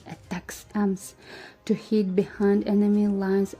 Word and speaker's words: ATACMS: Army tactical missile systems known as atacms and pronounced attacks Ms to hit Behind Enemy